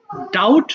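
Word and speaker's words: doubt: করা ডাবল ডাবলড ডাবলড ডাউট মানে সন্দেহ করা এইযে দেখ না আমার এটা ডাউট আছে বাট এখানে বি এর উচ্চারণটা কিন্তু হবে না কেমন বাংলাটা একবার দেখে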